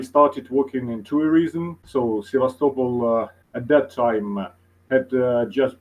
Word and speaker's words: Sevastopol: So I was born in Sevastopol. So we say Sevastopol, uh, which means the third syllable is stressed, in difference to Sevastopol, which is usually said in English.